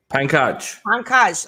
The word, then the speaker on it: Pankaj: Pankaj? Pankaj.